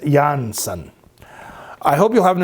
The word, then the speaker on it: Jansen: incredibly talented third vocalist, Floor Jansen, pronounced Jansen.